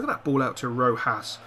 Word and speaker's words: Rojas: Look at that ball out to Rojas. I believe it's Rojas and not Rojas, as I say. The J is actually pronounced as a H, so is it Rojas?